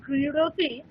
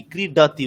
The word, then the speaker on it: ক্রীডতি: হ্যাঁ, ক্রীডাতি, ড যে উচ্চারণ সেই ডয়, ক্রীডতি, ক্রীডতি এরকম উচ্চারণ হবে না, সিম্পল ডয়ের যে উচ্চারণ সেটাই ক্রীডতি।